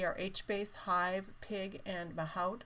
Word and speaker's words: Mahout: HBase, Hive, Pig, and Mahout, or Mahout, it's pronounced. It depends on where you come from, I guess.